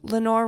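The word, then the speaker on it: Lenore: So either option was the nameless Evermore that the angels named Lenor. Plus Lenor rhymes with evermore, so it works in poetry.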